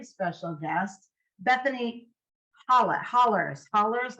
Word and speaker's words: Hollars: guest Bethany holla hollers hollers like yells that's how you pronounce it yep what's up you